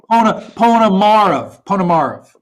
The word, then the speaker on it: Ponomarev: But I think it's Ponomarev. Is that right? Almost. Almost. Ponomarev. That's perfect. That's okay. Perfect. Ponomarev. Okay. The middle syllable's been tripping me up.